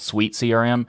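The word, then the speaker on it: SuiteCRM: that's really interesting is called sweet crm spelled like uh hotel suite uh so that but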